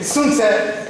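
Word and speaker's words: Sun Tzu: Okay, Sun Tse, to my last knowledge, this is the good pronunciation.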